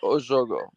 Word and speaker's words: Jogo: Is that how you pronounce it? Yeah, Jogo.